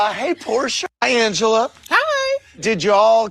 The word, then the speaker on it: Porsha: Hey, Porsha. How you doing? Happy Pride. Yes. See, that's how you say it.